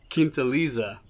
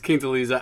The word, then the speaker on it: Quintaliza: Also, the non-gringo way to pronounce the name of this tequila is QUINTALIZA. I think I said something completely wrong, but yeah, it's QUINTALIZA.